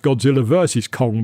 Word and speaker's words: Godzilla x Kong: I believe that's supposed to be pronounced Godzilla versus Kong, but it says Godzilla x Kong.